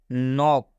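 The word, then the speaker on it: knock: करना है इसके को नहीं पढ़ना है मतलब नॉक हम इसको के का उच्चारण नहीं कर रहे मतलब की पढ़ना ही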